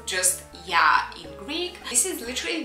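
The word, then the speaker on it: Oia: actually learned while i was there that it's pronounced just ya in greek this is literally the most famous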